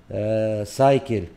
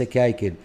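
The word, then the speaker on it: cycle: سايكل، أيضا هنا سايكل، أتى بعدها حرف الواي، إذا نقول سايكل وليس كايكل. أما هنا ننطقها ك، لماذا؟ لأن أتى بعدها حرف الإل، إذا هنا تنطق ماذا؟ ك، تنطق ك، سايكل.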